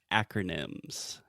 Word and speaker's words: acronym: absolutely first the pronunciation we say acronym so the first sound is that really open a sound that we have in English just like apple hat cat disaster Master you get the point yes